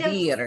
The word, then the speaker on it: vivir: make sure your I is an E sound.